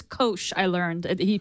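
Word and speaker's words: Koush: of trademark reasons and I think it's it's Kos I learned he pronounced it I was pronouncing it Kush it's Kos ah good to know and so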